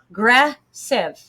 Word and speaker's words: aggressive: So the upside down E is a schwa and it makes an sound. Aggressive. You can also see it's broken into 3 parts. So aggressive. It's 3-syllable word.